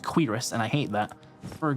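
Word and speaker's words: cuirass: For curus. I've I've learned this is actually pronounced quirus and I hate that.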